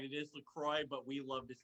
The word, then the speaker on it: LaCroix: It is LaCroix, but we love to say LaCroix.